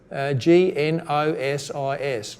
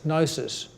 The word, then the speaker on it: gnosis: from the Greek word GN OS is gnosis you don't pronounce the G it's a silent G gnosis and that word